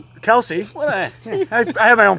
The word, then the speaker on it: Kelce: Travis Kelce. Kelsey. I have my own pronunciations.